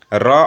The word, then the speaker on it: ऋ: इसका उच्चारण री होता है। इसका उच्चारण क्या होता है? ऐसे री, री कहा जाता है।